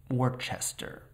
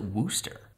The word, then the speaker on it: Worcester: is a link between kitterminster and worchester morchester workster that doesn't sound right hold on a sec hey how do you pronounce it it's just worcester how is it wooster i can't explain it to you it just is there are so many letters that aren't being said okay so before